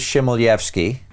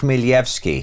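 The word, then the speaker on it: Chmelevski: a Californian right right everybody says Shem odf ski but the real pronunciation of his name is Millie f ski whoa and it's because of the transliteration of the Cyrillic alphabet to English this happens all the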